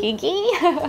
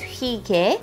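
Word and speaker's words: hyggee: When I first saw this, like Heidi, Higgy. But actually in Korean, the pronunciation is Hige.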